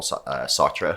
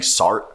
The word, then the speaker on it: Sartre: he kept saying um sorry about um jean-paul sartre oh sorry and he kept saying sort and i was just like you're a philosophy professor you should know how to pronounce the name that was